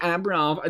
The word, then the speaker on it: Abramov: I'll say his name properly, Abramov. There is no N in there, but it feels like there should be an N in there.